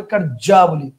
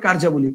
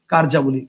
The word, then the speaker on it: কার্যাবলী: সেটা একচুয়ালি ভুল একচুয়ালি ওয়ার্ডটা হবে কারজা এটার উচ্চারণটা যদি করি তাহলে হবে কারজাবলী কারজাবলী মানে দুইটা জ সো এটা হবে না এটা ভুল কারেক্ট আনসার হবে কার্যাবলী কারেক্ট আনসার হবে হচ্ছে কার্যাবলী কথা বুঝতে পারছেন কার্যাবলী এটা হচ্ছে কারেক্ট আনসার